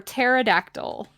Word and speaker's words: pterodactyl: that yep the name is P is for pterodactyl almost the first search it came up crazy